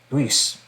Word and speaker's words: Luis: My name in Spanish is the we, the UI is pronounced that way. Sweet. Luis. Mind blowing.